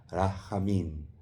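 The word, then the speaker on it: רחמים: Rajamín.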